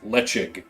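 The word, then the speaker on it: Ledaig: ones like what's like let's spell l-e-d-a-i-a-i-g yeah and it's pronounced lechik yeah and you're like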